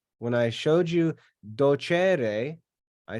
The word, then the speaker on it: docere: it sounds like but docere is pronounced with an accent on the second to last syllable because it's second conjugation and that e is